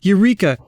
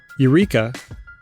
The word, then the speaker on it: eureka: engineering and astronomy two eureka dropping the silent h in a transliteration from greek is widely used as